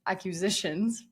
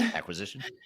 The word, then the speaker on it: acquisition: um accusations like uh or not accusations, accusitions. How do you say that word? Acquisition. Yeah. Okay, I got it right.